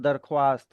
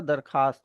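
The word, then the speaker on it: درخواست: इस तरीके से दरख्वास्त दरख्वास्त नहीं होता। दरखास्त होता है।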